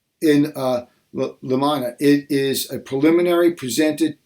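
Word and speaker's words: in limine: right, which is, and there's a couple ways to pronounce this, Limine, and they give you Black's Law Dictionary here, but anyway, it says in limina, it is a preliminary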